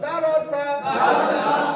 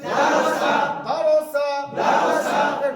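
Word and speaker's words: دَرَسَ: তাহলে সিন সমান দন্ত স জাবার আঁকা, দন্ত স আঁকা, তাহলে উচ্চারণ করলো দারসা। সকলে বলেন দারসা। রয়ের উপরে জাবার থাকলে রকে যত মোটা করে উচ্চারণ করবেন, রয়ের উচ্চারণটা তত সুন্দর লাগবে।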